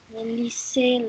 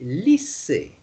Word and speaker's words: lisez: Lisez le texte. Be careful, you don't say lycée.